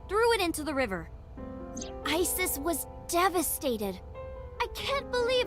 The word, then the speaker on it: Isis: Horse's mom is named Isis, but in ancient Egyptian, it's pronounced closer to Isa or Asa.